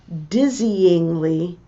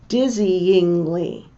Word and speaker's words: dizzyingly: The way we differentiate them is with a pulse of emphasis. Dizzyingly.